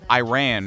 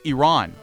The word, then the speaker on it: Iran: Because I get a little antsy when people are like Iran or, you know, Iran. Like, no, it's Iran.